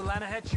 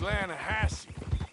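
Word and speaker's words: Lannahechee: rolled down to the Lana Hetchy river I caught some beautiful steelhead trout you maintenance runs right near here yeah but it's pronounced Lana Hass why is everything in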